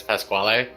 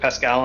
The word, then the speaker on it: Pasquale: my shop who goes by whose name is Pasquale. Oh, okay. It's Yeah. spelled that way. Huh. And that's how it's pronounced. Yes, and that's how it should be pronounced. But I pronounced it Pascal, and I want to keep it that way